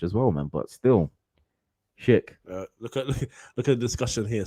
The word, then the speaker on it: Schick: Schick, yeah.